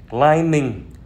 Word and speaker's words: climbing: nhẹ nhàng, plumber là thợ sửa ống nước, climbing là leo trèo.